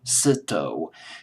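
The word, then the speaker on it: Zito: cson a song uh stand produced by Richie sitto C like the last letter in the alphabet always have Pro pronouncing C's c sitto c i t o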